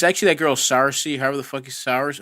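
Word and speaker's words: Saoirse: It's actually that girl Sarcy. However the fuck is Sarcy? How do you say her name? Sorcy.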